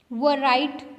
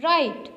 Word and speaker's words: write: वर राइट तो नहीं कहते आप क्या कहते हैं? राइट. और राइट के स्पेलिंग्स क्या होते हैं? WRITE. सो यहाँ पे W क्या है? साइलेंट.